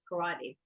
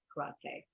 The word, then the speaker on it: karate: know here i grew up with it as karate but the actual pronunciation is karate and they said there are so many so